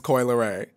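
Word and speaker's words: Coi Leray: to make sure I'm saying it's Coy it's Coy lay okay I was I practiced before but I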